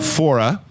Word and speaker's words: Faure: to tears here man she is miss fora i got that name pronunciation right it's been a whole hour and